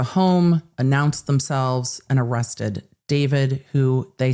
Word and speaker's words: D4vd: to get confusing, so I'm just going to refer to him as David, even though it's spelled D 4 V D, it's going to make it easier.